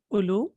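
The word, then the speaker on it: أولو: So the marfu form will be ulu, and we know that this waw is not pronounced, so it will be ulu.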